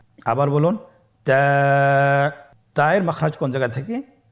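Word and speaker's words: تاء: বা এর মত আরেকটি হরফ আমরা দেখতে পাচ্ছি তা এর উপরে দুই নোক্তা তাহলে দুই নক্তা হরফটিকে কি বলে তা হরফটি বারিক হরফ এবং এক আলিফ টেনে পড়তে হবে। আপনারা আমার সাথে বলুন তা আবার বলুন তা এর মাখরাজ কোন জায়গা থেকে?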